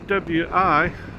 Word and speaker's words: Hawi: here, down towards Hawi, spelled Hawi, but everybody pronounces it Hawi, like a few people pronounce Hawaii, but not enough to matter to me. But everybody pronounces Hawi.